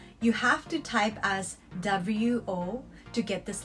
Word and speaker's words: を: always written in hiragana and never in katakana or kanji because all the particles are written in hiragana although is pronounced as o it won't be able to